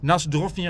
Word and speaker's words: na zdrowie: By the way, Skol, na zdrowie.